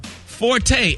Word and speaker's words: forte: Forte, F-O-R-T-E. Right. A lot of people think it's pronounced forte, but if it doesn't have the little apostrophe thing at the end of it, it's pronounced fort.